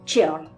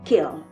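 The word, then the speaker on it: ceorl: S'il se disait keorl dans les premiers temps, une règle particulière, bien que tardive, dit que devant un e ou un i, le c se prononce ch, ce qui amène à dire cheorl. Sa modernisation a d'ailleurs donné le mot « churl ». Mais Tolkien ne précisant rien de tout cela, on peut supposer qu'il faille se conformer à ses directives et dire « keorl ».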